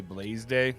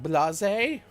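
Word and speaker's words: Blasé: I thought you'd say Blaze Day, and then we'd all laugh. Blase. Short A.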